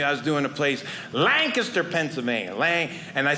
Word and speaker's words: Lancaster: I was doing a place, Lancaster, Pennsylvania, and I said that right, because the first time I performed there, I made the mistake. I said Lancaster, and everyone that lived there went Lancaster. It's Lancaster.